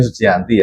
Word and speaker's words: Sujianti: Bacanya Sujianti ya, karena ejaannya lama, berarti menunjukkan kalau orang ini adalah yang sudah berpengalaman.